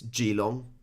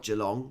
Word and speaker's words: Geelong: you look at geelong it's g long it's not geelong because there's no r in it so um some of